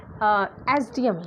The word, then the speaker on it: SDM: या फिर जैसे कोई आप बोलते हैं ना कि SDM, यार वो तो SDM है, ही इज़ एन